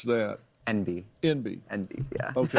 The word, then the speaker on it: enby: And how do you pronounce that? Enby.